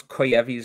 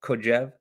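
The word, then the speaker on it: Kojève: hello dr kluckenstein i never know how to pronounce koyevi's name koyev kojev it's of course famous hegelian is kojevi's reading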